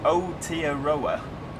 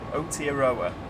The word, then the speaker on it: Aotearoa: It's pronounced Aotearoa. Aotearoa.